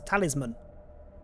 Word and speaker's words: Talisman: Talisman. Talisman. Yeah, it's Sam. Talisman. I think it's man at the end, but you don't pronounce it man, you pronounce it mun.